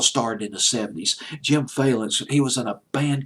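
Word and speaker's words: Vallance: another person in conjunction with Bryan Adams, Jim Valence. It's Valence, Valence, I believe is how you pronounce his name, Jim Valence.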